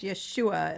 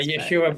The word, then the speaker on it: Yeshua: follow my stuff to call him Yeshua or Yeshua it's really pronounced Yeshua is how it's pronounced yeah Yeshua Ben Joseph Joseph yeah